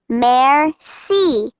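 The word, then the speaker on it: merci: Masterpiece a great painting Mercy thank you in French you say it like this mer see observant noticing things Overjoyed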